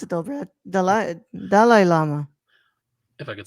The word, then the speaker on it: Dalai Lama: That's how you actually pronounce it, though, Brad. Dalai Lama.